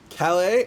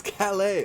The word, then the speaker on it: Calais: wherever whenever there's a Calais oh it's Calais oh I'm sorry it's the French pronunciation it'll fall say and